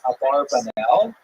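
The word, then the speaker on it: Abarbanel: One of the most popular versions in America is a barbanel.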